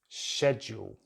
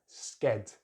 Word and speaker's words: schedule: So in American English, they have the sked, sked, schedule, schedule. It's quite different.